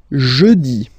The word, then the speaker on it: jeudi: Next one, jeudi. Jeudi. Remember, when you combine this E-U, you get the sound E.